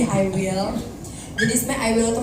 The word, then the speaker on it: iWIL: Karena jangan I Will bacanya ya, Iya. lagi Q Will, beda ya. Ini I Will.